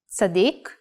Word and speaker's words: Tzadik: The letter Tzadik, if pronounced while putting the emphasis in the last syllable, Tzadik, means righteous person or even saint.